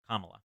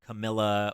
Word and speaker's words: Kamala: It's like comma, like the punctuation, and then la, Kamala.